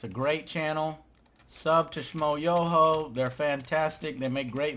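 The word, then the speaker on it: Schmoyoho: Schmo, yo, accent on the yo.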